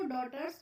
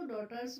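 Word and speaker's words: daughters: एंड डॉटर्स अब इसको डॉटर्स पढ़ते हैं इसमें जो जी एच होता है ये हमारा साइलेंट होता है तो क्या पढ़ेंगे इसको डॉटर्स बोलेंगे वर अब इसमें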